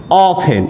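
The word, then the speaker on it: often: ऑफेन, इसको ऑफ्टेन मत पढ़िएगा, ऑफेन, टी क्या होता है, साइलेंट होता है, ऑफेन।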